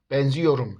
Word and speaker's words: benziyorum: fiillerde yor eki gelişinde ünlü daralması meydana gelir Yani biz bu fiili benzetiyorum diye telaffuz etmiyoruz benziyorum şeklinde söylüyoruz o halde bu Kelimeyi